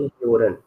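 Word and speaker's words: hören: ठीक है, देन यहाँ पर ओ मिट उमलाउट का प्रोनाउंसिएशन वर्ड में यो होता है, यो, जैसे फॉर यू। Example यूरन, यूरन, यूरिन।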